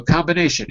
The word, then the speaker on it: combination: good combination very good so combination is the be silent yes or no no it's muck no it's not okay at this point